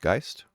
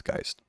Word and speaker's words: Geist: I believe it's pronounced gist, something like that. Um, if I remember correctly, it's the German word for ghost. I think it's gist actually, like poltergeist, I think.